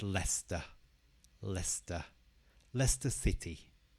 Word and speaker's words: Leicester: a difficult word for some people this is pronounces Lester Lester Lester City Leicester City Liverpool Liverpool again stresses on the first